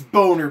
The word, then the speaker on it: Boehner: is or president like people might think we're mispronouncing his name but like come on look at his first vowel and his negatives name its Boehner people come on name is Boehner okay it's owner I